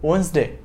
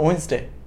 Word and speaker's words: Wednesday: day no this is Wednesday D is silent and an ST is contracted so Wednesday murder m ET IL